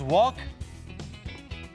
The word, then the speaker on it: walk: qué es aprender tenemos wok ya que la pronunciación uoc la l es muda tenemos el verbo drive